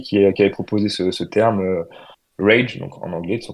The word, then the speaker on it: Rage: On dit Rage ou on dit à l'anglaise Rage ou comment vous le prononcez? Non, Rage, c'est bien, oui.